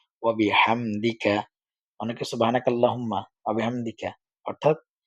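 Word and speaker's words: بحمدك: জের দি ওয়াবি হাহামদি কাফ জবর কা ওয়া বিহামদিকা অনেকে সুবহানাকা আল্লাহুম্মা ওয়াবিহামদিকা অর্থাৎ এখানে হা টাও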